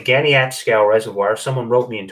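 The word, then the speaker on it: Caniapiscau: And I was told that that's pronounced Ganiatskow. So I'm going to say Ganiatskow Reservoir.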